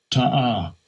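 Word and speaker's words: תעה: How you pronounce it? Strong's H8582. Ta'ah.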